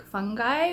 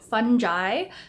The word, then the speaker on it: fungi: I forgot to report back on that film that hubby and I watched together, Fantastic Fungi or Fantastic Fungi.